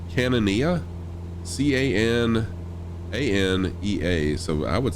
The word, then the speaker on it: Cananea: I'm not sure if I'm pronouncing this right, but it's Cananea, C-A-N-A-N-E-A.